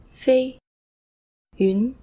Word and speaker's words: Feiyun: Fo, a, fei, yun. Feiyun. Although pronounced exactly the same as Feiyun from Feiyun Slope, the fei here means to fly, so the name overall means flying cloud.